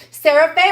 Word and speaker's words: Sarah Faye: Sarah Faye rhymes with Crazy K.